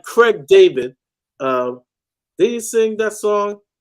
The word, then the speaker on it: David: Another one said it's pronounced David.